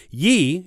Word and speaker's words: ye: In fact, it is not pronounced how it looks at all. Back in previous centuries, the ye together in a word was pronounced th. This means ye is really pronounced the in old documents. It isn't just an old-fashioned way to say the. It actually is pronounced that way.